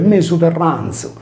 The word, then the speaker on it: Mesu Terranzu: fungeva da Z sonora, per cui senza la desinenza M del nominativo, poiché il sardo non possiede i casi del latino, il termine si legge mesoterranzo, ovvero sia in mezzo